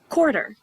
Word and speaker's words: quarter: a q u but you don't really hear the qua sound is quarter like the money quarter you only hear the cuff and so that's because